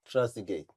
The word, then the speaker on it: Trezeguet: Trezeguet. Pronounce it again.